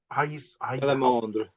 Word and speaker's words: Salamandre: Again, so I know I call it Salamandre. Again, may I ask, can you pronounce the French version again? The French, Salamandre.